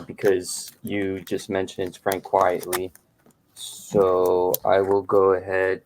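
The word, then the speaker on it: Quitely: I have, because you mentioned Frank Quietly, right? That's how you would pronounce it? Quietly. Yeah. Because it's not his real name. It's a play on the term quite frankly.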